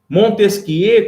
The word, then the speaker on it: Montesquieu: a pesquisa e u no final o só que no francês geralmente nós não lemos a última alegrinha então fica montesquie e não era charles